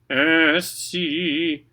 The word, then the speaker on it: ainsi: A-I-N. That's an. Again, an. So think and then put it in your nose. An. Ainsi.